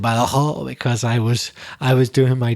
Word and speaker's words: Badajoz: Yes, first of all, apologies, Mamen, for my terrible impersonation of an accent from Badajoz. I know I'm exaggerating. You pronounce it, the Z in Badajoz, but I said Badajoz because I was doing my terrible pronunciation copy.